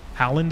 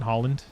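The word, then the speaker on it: Haaland: Howland is how you say it, not Holland.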